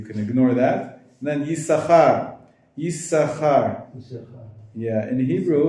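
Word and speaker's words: Yissachar: And then Yisachar. Yeah, in Hebrew it's spelled with two sins, but only one of them gets pronounced. So that's why Yisachar.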